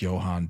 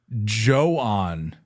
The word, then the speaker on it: Jhoan: I thought it was I thought it was Johan Duran I think a lot of people did